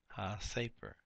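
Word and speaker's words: הַסֵּפֶר: the book ha safer ha safer doesn't change the accent the accent remains on the first syllable after the of first syllable of the noun here we have Derek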